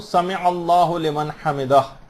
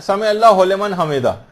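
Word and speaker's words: سمع الله لمن حمده: عام طور پر لوگوں کو دیکھا گیا سمع اللہ لمن حمدہ یہ پڑھتے ہیں، اس کو ہو لمن نہیں ہے، سمع اللہ لمن حمدہ.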